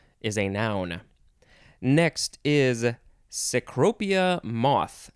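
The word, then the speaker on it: cecropia: adverb and ceaselessness is a noun next is secropia moth sycropia moth yes two words sacropia is spelled c c-e-c-r-o-p-i-a noun from 1885 a large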